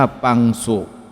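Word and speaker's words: ปังสุ: ง่าย ขึ้น กว่า เดิม คำ ดัง กล่าว เป็น ภาษา บาลี ที่ อ่าน ออก เสียง ว่า ปัง สุ มี ความ หมาย ถึง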